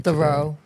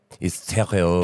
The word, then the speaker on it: Theriault: I've never seen his name spelled, so I pronounced it phonetically. Thoreau. Yes, I messed up. Theriault. Well, people say things different up here. Theriault. It's Theriault. Gagnon. Theriault is French.